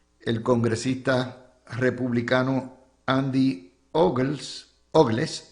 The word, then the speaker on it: Ogles: Hoy reporta el nuevo día el congresista republicano Andy Ogles Ogles se escribe como Ugly, así mismito de Tennessee.